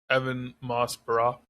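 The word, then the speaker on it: Ebon Moss-Bachrach: There was They released one episode of John Bernthal, Mikey or Michael, and Evan Moss Bar. Is that how you pronounce his name? Evan Moss Barack.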